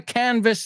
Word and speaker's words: canvass: That one has two S's, but they're pronounced exactly the same.